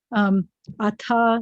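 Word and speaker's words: אַתָּה: The definite direct object marker is et, spelled with an aleph and a tav.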